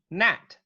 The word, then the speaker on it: gnat: So the next one is G, as in gnat, right?